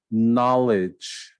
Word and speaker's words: knowledge: Knowledge, K is silent.